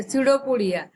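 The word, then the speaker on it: pseudopodia: ते सिडोपोडिया, या पीचा उच्चार इथे आपल्याला करायचा नाहीये. स्पेलिंग जरी असलं PACUDOPODIA तर आपल्याला त्याचा उच्चार पी सायलेंट आहे इथे, आणि आपण काय म्हणू त्याला, सिडोपोडिया.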